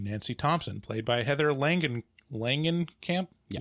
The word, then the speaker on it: Langenkamp: Thompson, played by Heather Langenkamp. Yeah. Do you pronounce the J? The G? Yes, I believe you do. Langenkamp.